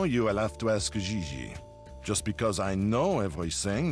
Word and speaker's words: Gigi: Gigi. JJ. En français, you pronounce G like J and J like G. She may very well be JJ in America, but in France, she is Gigi.